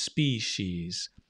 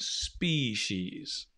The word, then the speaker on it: species: a s sp she's she's species right it's a bit like spee and then she's it's a bit like that right species so it's an s and a sure try and say it with me species species there are many different species okay good that the e is a bit shorter it's a species okay capture